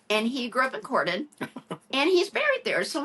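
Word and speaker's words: Corydon: was brought up not far from here in Cordon Indiana which was actually the first state capital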